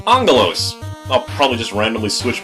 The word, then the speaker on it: Aggelos: don't understand me either all I'm very likely gonna end up pronouncing this game's name is a gallows apparently some general translation issue involving a quirk of the Greek alphabet it's actually supposed to be pronounced Angelo's I'll probably just randomly